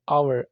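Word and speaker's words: hour: बाद घंटा जो है आवर आवर अक्सर हम बोलते हैं इसमें हव नहीं बोलना आपने ये भी इसमें भी आप देखें एच साइलेंट है वाइल दौरान या जब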